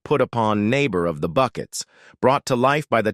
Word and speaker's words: Bucket: routledge's legendary portrayal of Hyacinth Bucket who famously insisted her last name be pronounced bouquet captivated audiences worldwide but as